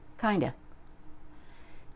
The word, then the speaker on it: kind of: The first one is kind of, and it sounds like kinda.